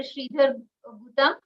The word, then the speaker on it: Sridhar Gutam: Sridhar Gutam. Did I pronounce it right?